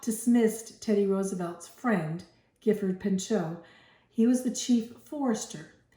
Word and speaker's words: Pinchot: Okay, Pinchot was one of Teddy Roosevelt's friends. Maybe you would say Pinchot, how they say his name, because he's French. He's a French guy.